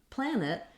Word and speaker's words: planet: a stopped t then when we come to planet we have two syllables and there's a sound between the and the T sound planet um we'll have a little I or an uh sound there it's a very reduced vowel because we have first syllable stress so plan is long